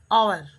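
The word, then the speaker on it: hour: आवर आवर घंटा H silent है। ओ यू आर आवर एच इसमें साइलेंट है। इसका प्रोनंसिएशन यानी उच्चारण आवर होता है।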